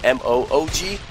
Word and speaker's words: MOOG: There was one guy with M-O-O-G, and you got Mog here, M-O-G-G, so it's really throwing me off. And I believe he pronounced it Moo-G, if I'm not mistaken, yes.